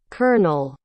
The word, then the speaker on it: colonel: up a bit Colonel okay slow it down kernel kernel so you'd listen to it a few